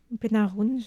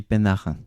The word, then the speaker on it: Pénarin: Nicolas Pénarin, Pénaroun, je ne sais jamais comment prononcer. Et je crois qu'on dit Pénarin.